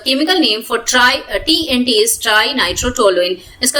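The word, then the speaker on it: trinitrotoluene: हम लोग बोलते हैं ट्राइनाइट्रोटोलुइन या ट्रीनिट्रोटोलुइन हिंदी में, but generally we pronounce it like ट्राइनाइट्रोटोलुइन. okay, TRI को हम लोग ट्राई ही बोलते हैं mainly.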